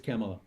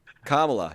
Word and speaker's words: Kamala: 52.6 to 44 45.5 it's camela oh sorry no it's oh yes I'm sorry it's Kamala Kamala you said camela it's it's Kamala I like to mispronounce